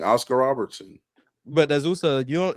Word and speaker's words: Oscar Robertson: How much higher do you have to go on Oscar before you stop calling him Oscar Robinson and start calling him Oscar Robertson? You said what? Oscar Robertson?